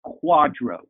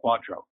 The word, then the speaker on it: QDRO: the family law community the acronym you would pronounce it quadro qdro or quadro you have to do